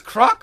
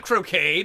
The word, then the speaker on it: Croc: So it was Croc all along, not Croquet, not Croc. I was mispronouncing it. Oh, mon Dieu, people always pronounce it wrong.